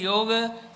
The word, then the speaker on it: योग: कैसा उच्चारण होना चाहिए actually speaking we don't say भोगा से भोग सिमिलरली योग इ द करेक्ट प्रोन योग इ correct pronunciation but then whether you